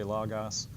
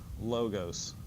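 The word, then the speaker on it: λόγος: a lot of times classical Greek teachers will say logos and Koine Greek which is biblical Greek will say lagas but in this class we're going to say logos this is one of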